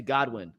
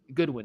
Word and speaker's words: Goodwin: Watson Deep attempt to Godwin Goodwin excuse me I say his name wrong every freaking time it's